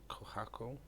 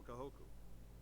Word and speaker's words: Kahoku: go right I will speak to rear Admiral kohaku kohaku it's cold here we go oh God I just butchered them becoming the first human Specter Commander